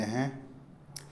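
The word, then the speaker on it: heir: को इंग्लिश में बोलते हैं विडो संबंध इंग्लिश में बोलते रिलेशन संबंधी इसको इंग्लिश में बोलते हैं रिलेटिव वारिस को इंग्लिश में बोलते हैं हे यहां पर एच और आर साइलेंट है प्रेमी इंग्लिश में बोलेंगे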